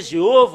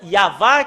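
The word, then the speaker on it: יהוה: Ça a changé Jéhovah ou Yahvé. Normalement, ça doit être Yahva qui doivent prononcer.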